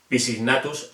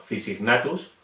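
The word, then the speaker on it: Physignathus: PH se pronuncia como F. No sería Pisignatus o Panteropis, sino Fisignatus o Panterophis.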